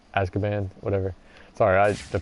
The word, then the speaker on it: Azkaban: that's definitely Hall is part to prison to Azkaban or money yeah this is it both great